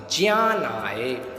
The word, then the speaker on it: ज्ञानाय: दानाय च रक्षणाय अवधि विद्यार्थियों ध्यान रखें कि जिसको हम ज्ञानाय पड़ते हैं उसको संस्कृत में यदि समीचीन उच्चारण किया जाए तो पढ़ा जाएगा जियान हाय इस प्रकार है तो